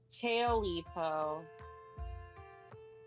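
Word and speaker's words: Tailypo: I pulled up like a pronunciation thing. Let's see. How do... Tailipo.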